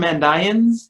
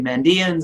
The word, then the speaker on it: Mandaeans: themselves when we get the term mandayans in texts and i pronounce that way oftentimes english speakers say mandians and that's fine i collaborated on a